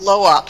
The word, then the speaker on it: LO*OP: But the computer center is spelled like co-op. It's Loop Center, and it stands for Learning Options Open Portal.